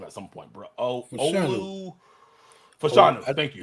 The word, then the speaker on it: Olu Fashanu: I might have to learn how to pronounce that name at some point, bro. Olu Fashanu. Thank you. It's Fashanu.